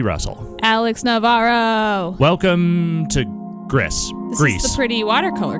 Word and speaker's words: Gris: Welcome to Gris. This is the pretty watercolor game, right? Yes, it totally is. I've been told it is pronounced Gris in the traditional Spanish.